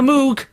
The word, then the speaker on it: Moog: friends are using on the new album a moog uh that's right it's pronounced moog incidentally okay uh janine uh what kind of